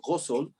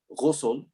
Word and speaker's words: ghusl: Yeah, the first is ghusl. Ghusl. That's an Arabic letter called ghain. We don't have that in English. It's called gha, ghain, ghusl.